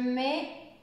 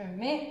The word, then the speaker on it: mets: On ne prononce pas le T, mais le T est avec le E, donc ensemble, c'est un E. Voilà, c'est pour ça. Donc, je vais commencer ici. Je mets mes lunettes.